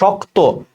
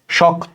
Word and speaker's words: শক্ত: Same ভাবে শক্ত, এই যুক্ত ব্যঞ্জনের সাথে ও আছে, শক্ত, এই যে ওকারের মতো উচ্চারণ হয়ে যাবে, ঠিক আছে। আর ওই যে শক্ত, শ্বাস ছেড়ে দিচ্ছি, সেখানে একটা হসন্ত হবে।